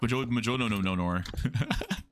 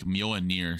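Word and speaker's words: Mjölnir: Majolinor. Mjolnir, yeah. I just got told it was like Mjolnir, so Mjolnir. Mjolnir.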